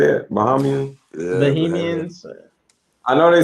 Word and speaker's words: Bahamians: Bahamians.